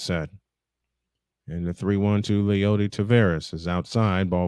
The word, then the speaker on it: Leody: Leody Taveras is the correct pronunciation. I am all off tonight, and I apologize for that, folks. Next one, way outside and upstairs. It's 3-1 to Leody Taveras.